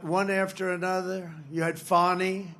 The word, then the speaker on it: Fani: You had Fani, F-A-N-I, which is usually pronounced Fanny.